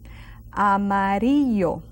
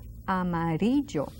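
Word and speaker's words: amarillo: English which pronounced differently Amaro Amaro it's yellow and that Double L is like the Y in yellow Amar now uh students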